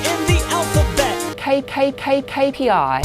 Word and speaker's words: KPI: A letra K em inglês é K, KPI. Esqueça essa história de KPI. KPI, Key Performance Indicator. So a KPI. K is a consonant, a letter in the alphabet. KPI.